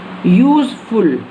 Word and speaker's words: useful: And one more example, useful. Listen my dear student, here again I am pronouncing this you as you.